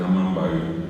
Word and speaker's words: amamba: significa, tendría que pronunciar amambay. Y les dije yo, amá es lluvia, tiene una M, la M es nasal, y entre amapa y amamba, lo correcto es decir amamba.